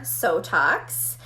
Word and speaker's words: Sotox: So the clinical studies that have just been released are for Sotox. So this, I always say, rhymes with Botox for a reason.